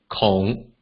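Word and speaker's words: 零: The first one, 0, in Hokkien is pronounced as kong, kong.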